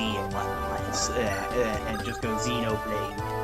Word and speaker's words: Xenoblade: And I said you make the X the X there, you just say it like a Z and whatnot, and just go Xenoblade.